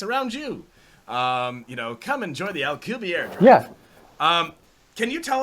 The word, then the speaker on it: Alcubierre: I've heard Alcubierre, I've heard Alcubierre, but I'm pretty sure it's Alcubierre.